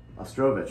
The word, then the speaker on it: Ostrovich: Now, Seb actually asks, Seb Ostrovich? Ostrovich, yeah. Ostrovich. That's how he claims it's pronounced.